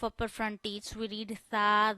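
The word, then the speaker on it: ث: We create whistle sound in front of while reading seen, but sa we read without whistle.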